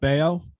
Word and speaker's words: Bello: And it's pronounced Brian Scott Bayo.